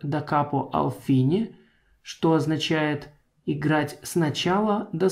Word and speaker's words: da capo al fine: Эта надпись читается как «da capo al fine», что означает играть сначала до слова «конец».